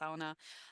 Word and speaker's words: sauna: Uh local pastimes that I love in the Nordic region are sauna, sauna is how they say it, sauna, uh fueled swimming, particularly